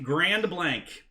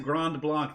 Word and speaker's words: Grand Blanc: michigan where we call grand blanc grand blanc grand blank if you pronounce it grand block they know you're from out of town even